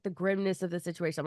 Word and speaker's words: Grimnes: i m nees so someone's going grimnes Grims gri you got it the first time if you add s